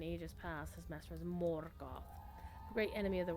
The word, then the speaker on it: Morgoth: Morgoth, you gotta roll your R, Morgoth, can no longer trouble